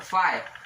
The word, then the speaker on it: phi: उसके बाद पाई, फाई, फी या फाई, आप कुछ भी कह सकते हैं।